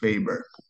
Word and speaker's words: Weber: Germans, there's a W, you pronounce it as a V. Max Weber.